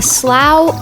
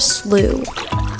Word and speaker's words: slough: This feeds the river itself, and it's called a slough or a slough. You can pronounce them in both ways.